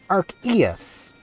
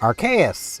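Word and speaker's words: Arceus: Or as this book says to pronounce it, Archus, though, Archus has also been used.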